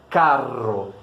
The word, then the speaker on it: carro: A única coisa que mudou realmente é a duração desse R no primeiro caro e no segundo carro, né?